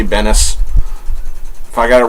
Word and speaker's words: Benes: Gail Simone, Ed Benes, or Benz. I've heard it pronounced two different ways. I say Benes.